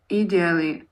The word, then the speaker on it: ideally: Опа, и я не прав. Ударение на второй слог. Ideally. Ideally. Ideally. Ideally. Не You are a идили, person.